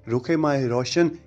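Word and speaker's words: रुख़-ए-माह रोशन: तो इस ड्रामे के नाम को पहले गलत प्रोनाउंस किया जा रहा था और रुख माह रोशन कहा जा रहा था, लेकिन इसका सही जो प्रोनाउंसिएशन है वो रुखे माह रोशन होगा।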